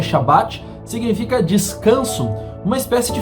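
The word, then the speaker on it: שבת: também os sábados cerimoniais a palavra sábado que no original se pronuncia shabat significa descanso uma espécie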